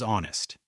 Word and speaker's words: honest: For example, honest is pronounced as honest. Right is pronounced as right. Some letters are written but not spoken.